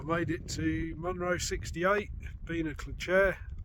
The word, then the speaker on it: Beinn a'Chlachair: it to Monroe 68 Bea Clair I believe it's pronounced as you can probably